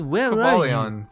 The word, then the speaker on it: Cobalion: I thought it was Cobalion. Wait, Cobalion? That's not a Pokemon. Cobalion. Wait. Cobalion? Cobralion?